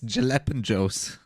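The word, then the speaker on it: jalapeños: for for for uh what do you mean Hall AOS no it's jalapenos it's also a lot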